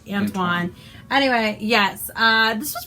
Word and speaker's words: Antoine: library book so it's very shiny confident you butchered that Antwone ain't French do de saint-exupery except le but my sisters Antoine Antoine anyway yes uh this is pretty cute uh